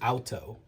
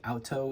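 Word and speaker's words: Aoto: So these stones I would say are similar to alto stones from Japan that are natural wet stones and that's a o t o. I think alto is the right way to pronounce it and they're a similar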